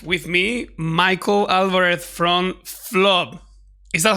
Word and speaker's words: Flub: today I have with me Michael Álvarez from Flub. Is that how you pronounce it?